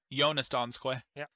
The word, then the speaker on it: Jonas Donskoi: then to his right jonas donskoi jonas donskoi is actually how you pronounce it he's going to be